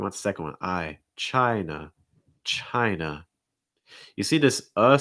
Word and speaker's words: China: sound at the end it's that na na it's not nar it's just a real soft sound very relaxed also that i sound so it's not try it's chai chai see if you can